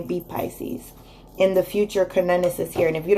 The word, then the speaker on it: Cernunnos: And in the future, we have, it's actually pronounced Cernunnos, and it's life force.